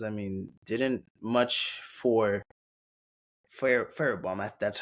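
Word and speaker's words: Fairbairn: And then with the Texans, I mean, didn't much for Fairbaum, that's how you say it.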